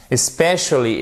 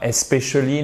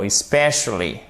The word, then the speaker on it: especially: Especially et pas especially, non, especially. Toujours, on regarde notre accent tonique pour bien prononcer.